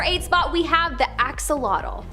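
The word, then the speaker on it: axolotl: spot, we have the axelottle. There is much speculation as to how to pronounce the name of this creature, but for the most part, most people believe that it is axolottle.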